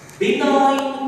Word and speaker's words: benign: First one is benign tumor. See, there is a spelling G, but this is silent. Benign tumor.